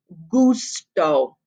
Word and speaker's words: gusto: u we know that this g sound is going to be a hard g sound not a soft g sound hey hey that gives the pronunciation of word number two gusto look at word number